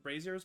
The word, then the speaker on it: braziers: That are Braziers. holding some large iron. I know that sometimes people mispronounce it braziers, but it's braziers.